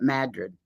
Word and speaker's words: Madrid: Only the locals call it Madrid.